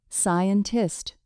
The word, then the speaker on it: scientist: In scientist, the first C is silent. It sounds like scientist.